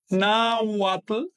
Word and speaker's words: nawat: Hay una diferencia sutil pero importante de pronunciación. Así que recuerden esta W no es vocálica, es consonántica, es una consonante. Mientras que esta forma de escribir pues es vocálica porque la H no pronuncia, así que ahí dice nawat.